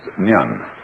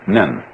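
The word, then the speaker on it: 念: It's pronounced nyan, in Japanese nen. And the top part of the character means now, and the bottom part means the mind-heart, the shin.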